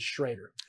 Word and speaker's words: Schroeder: a in there but I've seen other places where Schroeder is actually properly pronounced as Schrader it's a translation thing